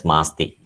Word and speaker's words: Masti: as masti kannada nada asti his name is pronounced as masti he is kannada's treasure that is so precious